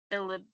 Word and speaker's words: bilirubin: I did look up how to say these, which is categorized as a brain dysfunction brought on by bilirubin.